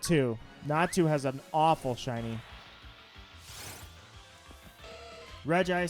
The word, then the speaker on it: Regice: Regice sounds like royalty I pronounce it Regice none of this Regice garbage Reggie ice I used to call it Reggie ice and so I realized there was no second eye in there because I was like